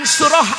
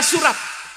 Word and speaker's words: surah: Jangan dibaca sebagai "surat." Karena akhirannya ta marbutah. Dalam kompetisi pembacaan Al-Quran , jika Anda membacanya sebagai "surat," istilah yang benar adalah "surah.